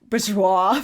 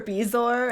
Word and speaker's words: Bezoar: So I have, he mispronounces a few things, like bourgeois for Bezoar and Jim Dale.